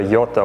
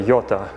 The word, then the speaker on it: Jota: These are the Jota ones, it's spelled J-O-T-A.